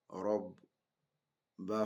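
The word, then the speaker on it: رَبَّ: Let's start this one by saying ro fatia ro, ba sukun, rob, ba fatia ba. What will it become? It become what? Rob ba.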